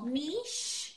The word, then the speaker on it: niche: Americans normally say it niche niche yeah Miche is the British Way a niche which be the American Way and yeah when I